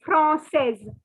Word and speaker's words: française: See, for boys, you don't have to pronounce the S. And for girls, you have to pronounce. That is the only difference.